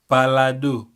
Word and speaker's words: pardon: The word pardon, some people may pronounce it palado.